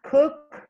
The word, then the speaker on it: cooked: The cake was cooked yesterday. Okay, was cooked by my sister yesterday. Okay. Okay. But remember the pronunciation is cooked. Cooked. Yes, you have to pronounce the k sound and d.